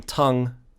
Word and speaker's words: tongue: tongues move uh again tongue actually uh it's it's supposed to be pronounced with an uh but then in the north of england it's pronounced as tong okay so it's it's fun